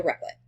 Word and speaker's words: Replit: So what we're going to do first is click on directly create a Replit. A REPL. That's how you say it.